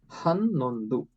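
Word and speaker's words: ಹನ್ನೊಂದು: So we'll pronounce it as Ondu. Hannondu for 11.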